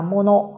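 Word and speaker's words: 者: Tuy nhiên, khi đứng một mình thì từ này sẽ được đọc là mono.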